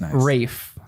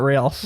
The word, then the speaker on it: Rafe: Rafe, not Ralph. Rafe. See, you were wrong. Oh, no, that makes a lot of sense. spelled like I've heard Ralph, that but it's as Rafe.